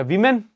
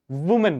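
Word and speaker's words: women: अब ये कोई नहीं बोलेगा कि वीमेन तो डब्ल्यू ई क्यों नहीं बोल रहे हो? नहीं। इसका प्रोनंसिएशन ही ऐसा है। इसका प्रोनाउंसिएशन ही ऐसा है। वुमेन का वुमेन।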